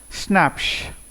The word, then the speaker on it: Schnapps: Schnapps, pronounced schnapps. It is not snacks we have in English, this is a German word.